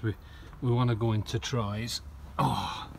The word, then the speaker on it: Troyes: So this is going to be our break really, because we want to go into Troyes. Oh. Trois. Huh? Pronounce twa.